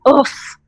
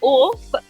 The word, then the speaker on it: OAFF: So, well, guys, if you're wondering who is oof, isn't that how you say it, Kabir? So it's Oaf. That's my name, Oaf. It comes from the English word Oaf, which means silly, awkward person, and I related to